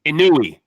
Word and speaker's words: Inoue: They said out of all, I always say his name wrong. Inoue.